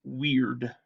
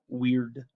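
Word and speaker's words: wyrd: It's pronounced weird. W-Y-R-D, weird.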